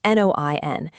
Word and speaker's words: Noian: It's called Noian, pronounced Noin, and it essentially acts as the ultimate AI social media manager for your Shopify store.